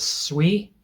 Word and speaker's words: Sui: And one of these that I really like is SUI. Um, I've been calling it Sooie for for the longest time.